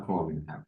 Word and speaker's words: Cormier: is Marcus Anthony carier or Cormier how you pronounce it uh Cormier Cormier yes well how do you I mean